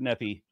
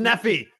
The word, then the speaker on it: Nephi: GNA be reading third nephie 29 nobody because it's not pronounced nephy how dare you okay well